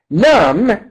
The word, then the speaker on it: numb: Numb, with a silent D at the end.